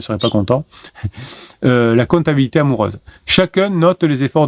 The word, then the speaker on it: comptabilité: Euh, je dis compatibilité mais je l'ai mal prononcé. C'est comptabil Oui, c'est comptabilité.